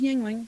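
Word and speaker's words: Yuengling: they're letting you know because the way it's spelled is a little weird it is pronounced Yingling yep and d g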